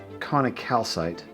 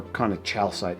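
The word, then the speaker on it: conichalcite: Conocalcite, or conochalcite, depending on how you want to pronounce it.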